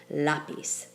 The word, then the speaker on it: lápiz: say lapiz we say lapis and therefore we have to write in the accent on the second to last syllable to get lapis take a look at